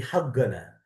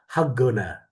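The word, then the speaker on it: حقنا: Tapi berhubung kok di sini secara amiyah dibacanya go. Kok itu dibaca kok, go, haggana, haqqana, fi sayyarah haggana.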